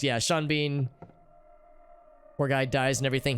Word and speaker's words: Sean Bean: he's in is because his name is spelled like it should rhyme but it doesn't and his and him